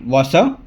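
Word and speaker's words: Vasseur: है वो है फ्रेडरिक वॉशर अब इटालियन में उनको क्या बोलते हैं I don't don't know but English में अगर मैं प्रोनाउंस करूं तो फ्रेडरिक ओसर है एंड उनके जो चार्ल्स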